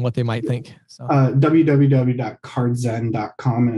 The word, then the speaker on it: Card Z3N: yeah so yeah the the e is just a three so it's a backwards e